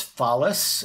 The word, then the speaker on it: Follis: followed by Inc Inc my last name is phallus and that's spelled f as in Frank o l l